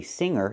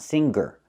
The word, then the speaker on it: singer: So, we see with the word singer, we do not pronounce a hard G. We say singer, not singer.